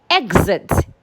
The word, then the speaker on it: exit: So because a vowel sound is a voiced sound, the X there will sound Gz. Unlike the other example where it sounded Ks. So we have example, exam, exit, exit.